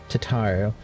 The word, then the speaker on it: Tataru: I need to get better at pronouncing her name. Tataru.